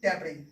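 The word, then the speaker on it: debris: और इसको पढ़ते हैं डेब्री, डेब्री मीन्स होता है मलबा, मलबा यानी कबाड़, आप कबाड़ बोल सकते हो, कबाड़, मलबा, कबाड़, डेब्री।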